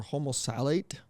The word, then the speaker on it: homosalate: so we're at OMC so almost late or homo satellite okay it might give you a better idea of how it's spelled h-o-m-o-s-a-l-a-t-e it is again it's a reproductive